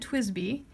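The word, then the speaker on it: TWSBI: b t TW SBI you pronounce it twizz b and it's called a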